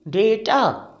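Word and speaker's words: data: वी वड pronounce it डेटा डेटा जैसे हम कहते हैं बेटा लाइक डेटा ओके अच्छा एक और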